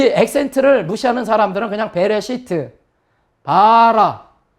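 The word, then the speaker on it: בָּרָא: 바라.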